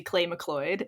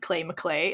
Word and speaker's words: Clay McLeod: And I said, it was supposed to be Clay McLeod. And I said Clay McClay.